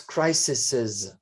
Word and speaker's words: crises: it's crises.